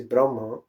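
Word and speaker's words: ब्रह्म: If you will hear or if you will read in Upanishad, this word is Brahma with short A. First A is short and last A is short.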